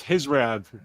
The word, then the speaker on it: Khizriev: Yeah, it's gonna be with the accent, but it's Khizriev. Khizriev. All right, over in the chat. Khizriev 1, Muradov 2.